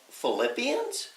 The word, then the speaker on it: Philippians: Philippines do you mean Philippians hmm oh my bad Philippians us a letter of thanks and encouragement to the church near and dear to Paul's heart since Philippians sounds like the word flip well flip our hands